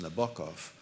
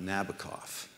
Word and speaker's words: Nabokov: it by saying that it's pronounced Nabokov not Nabokov but I didn't know